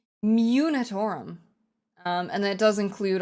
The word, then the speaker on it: Munitorum: I always say it wrong. I always want to say Minatorum. Munitorum.